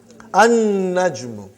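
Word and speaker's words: النَّجْمُ: An-najmu. You did not pronounce lam because noon is a shamsi, sun letter.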